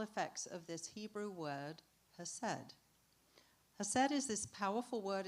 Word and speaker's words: hesed: It's also difficult to pronounce if you pronounce it properly because it has a little little Hebrew thing at the beginning, you know, has right.